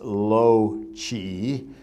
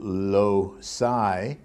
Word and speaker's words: loci: to be talking about genius low chi uh as opposed to low psi because i thought the ci was a hard c and therefore uh it